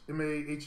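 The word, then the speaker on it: Maher: now she's watching Bill ma ma m a m a h e r how you say his name jovina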